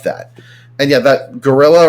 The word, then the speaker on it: guerrilla: United States doesn't like that and yet that gorilla right here that's how that's how you pronounce that word there so the the Vietcong